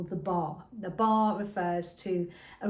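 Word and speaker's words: barre: I tend to, if I'm teaching, I tend to use the wall as my bar, and it's spelled B-A-R-R-E.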